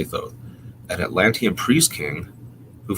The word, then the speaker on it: Thoth: 36 thousand years bc the writer is stoath or toth i've heard pronounced as well i say though an atlantean priest king